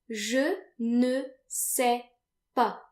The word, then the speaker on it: je ne sais pas: And if you don't know something, then you want to say je ne sais pas. Je ne sais pas. And notice that the final S's are silent, like they normally are in French.